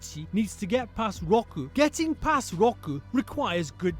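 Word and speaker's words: 六: the Japanese 4:6 is rock rock ooh sounds like the word Rock this is rock rock who is the king of rocking and rolling remember Roku has a wide round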